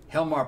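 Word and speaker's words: Hjalmar: yeah no hyalumar is there it is because it's spelled yeah no it's h-j-a-l-o-m-a-r helmar pelzek he's uh he was uh fetus's uh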